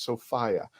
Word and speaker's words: Sophia: So everybody, the correct way to say her name is Sophia.